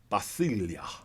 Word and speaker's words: basileia: This word is basilia. Remember I said it a little earlier. Basilia. It's spelled B A S I L E I A.